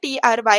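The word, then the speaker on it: trie: ठीक है, एंड इसको हम कैसे प्रोनाउंस करते हैं मैंने आपको बता दिया, TRY ऐसे आप इसको प्रोनाउंस करते हो.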